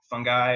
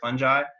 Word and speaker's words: fungi: But I think Paul Stamets said that fungi and fungi are basically acceptable.